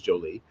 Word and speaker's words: Joly: So for those who for wondering, it is not pronounced Jolly, it is Joly.